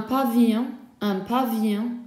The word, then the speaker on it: pavillon: Un pavillon, a bungalow, double L is silent.